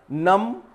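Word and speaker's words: numb: नम, बी को silent किया गया है, नम यानी सुन्न।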